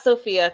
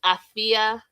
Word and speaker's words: Afia: It's not Sophia. Thank God you didn't hear me right. Now I'm going to Google what is it, born on Friday, and it's Afia. Afia, Afia. Some people spell it Afua.